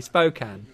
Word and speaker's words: Spokane: Sorry, Spokane.